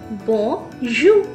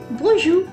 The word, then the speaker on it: bonjour: Bonjour. Bonjour. Listen to my pronunciation. I'm not saying bonjour. It is bonjour. The R sound stays in my tongue only.